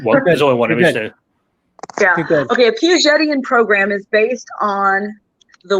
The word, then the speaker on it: Piagetian: uh what sabrina can you speak to the piaget programs you i think i pronounced it wrong we talked and i forgot oh the piagetian program oh yes yeah um and i guess